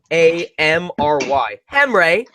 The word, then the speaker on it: Henry: It's Hamry. Henry.